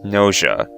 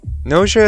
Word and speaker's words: Gnosia: game's name g-n-o-s-i-a now i'm mostly sure this is pronounced nausea and not gnosia or nosaya i may be fluent